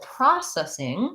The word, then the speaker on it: processing: to look at because it has first syllable stress so it's an example of where the letter o is going to say the ah vowel so we have first syllable pra that's long and then this letter c says the s sound process we have a